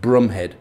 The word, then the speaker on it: Bromhead: his right hand man lieutenant gonville bromhead which is actually pronounced brumhead he was the man